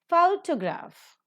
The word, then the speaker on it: photograph: Photograph, the first syllable is accented.